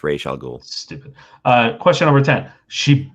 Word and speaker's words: Ra's al Ghul: In the chat, please tell me, do you pronounce this Ra's al Ghul from Batman Begins or Raz al Ghul? Because my Google search told me both. Question number 10. What? It's Ra's al Ghul.